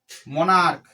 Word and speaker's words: monarch: মোনার্ক, MONARCH, তাহলে মোনার্ক সিএসটা কার মতো? কয়ের মতো উচ্চারণ, তাহলে আমরা কি করব?